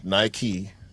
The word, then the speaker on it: Nike: It's named after the Greek goddess of victory, who is named Nike.